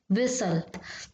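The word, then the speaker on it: whistle: पर सही हो जाएगा हुज च letters are silent in the world विसल तो य क्या है साइलेंट यहां पर दो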